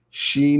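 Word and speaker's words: 四: In Japanese culture, the number 42 is considered unlucky because the numerals, when pronounced separately, shi, ni, 42, sound like the word dying, like the Latin word mori.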